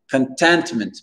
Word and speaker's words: contentment: Et l'accent tonique, on a trois syllabes ici, contentment. L'accent tonique, il va être sur le T-E-N, contentment, pour dire la satisfaction, contentment.